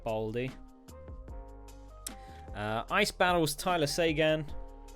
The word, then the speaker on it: Seguin: uh ice battles Tyler Sean yes I realize his surname is pronoun is spelled Seguin JT Miller JT I